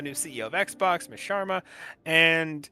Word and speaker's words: Sharma: It's Sharma. It's Sharma. Definitely Sharma. But for some reason, my mind keeps wanting to say schwarma for some reason.